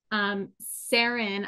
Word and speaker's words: Saren: Sarin, I believe is how you pronounce your name.